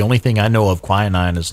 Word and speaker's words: quinine: has queening in it queening is that how you pronounce that quinine there we go so it's quite bitter